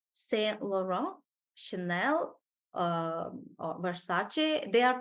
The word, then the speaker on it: Versace: So anybody anybody who doesn't know would probably read it like but it's Versace. So it's because they are different languages.